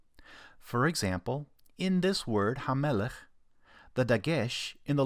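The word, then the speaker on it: הַמֶּלֶךְ: And the double M, hamelech, helps us to know where to divide the syllables when we pronounce it.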